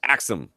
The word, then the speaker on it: AXIIM: Wanted to know if we checked out the new Axum. Yes, it's AXIIM, and it's pronounced Axum.